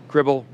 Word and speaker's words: Cribl: Cribl, rhymes with Tribble.